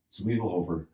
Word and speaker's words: Zwiefelhofer: Zwiefelhofer. Yeah, you nailed it. I got a name that nobody can pronounce.